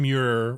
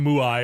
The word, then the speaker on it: Muir: John Muir. It's probably some Scottish sound that like didn't quite cross the Atlantic right. Yeah, you want to say like if your name is Muir, just spell it M-U-R-E.